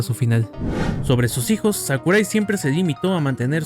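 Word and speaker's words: 櫻井: versión antigua del mismo, pero sin cambiar la pronunciación que siempre ha sido y será Sakurai.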